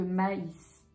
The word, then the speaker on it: maïs: ça dépend des prononciations lorsqu'on sépare deux voyelles on va utiliser un tréma c'est le cas par exemple de Noël au haie ouais ou alors de maïs maïs autre chose qui peut